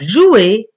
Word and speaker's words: joue: terminaison je joue eux mais attention on écrit e sont la prononcer on dit que c'est une lettre muette eux est une lettre muette c'est à dire on la voit mais on ne la prononce pas je joue je joue